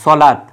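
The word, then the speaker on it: صلاة: হ্যাঁ, এই সলাত, এই জায়গায় কিন্তু এই যে ওয়াটা আছে, ওয়ার উপরে কিন্তু কোনো হরকত নেই। হ্যাঁ, এই জন্য কিন্তু ওয়ার কোনো উচ্চারণও নেই। আমরা বলি কি সলাত, ওয়ার কোনো উচ্চারণ নেই।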